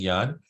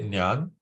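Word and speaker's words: ज्ञान: So we follow him by saying yan. But if someone wants to say nyan uh that's up to them.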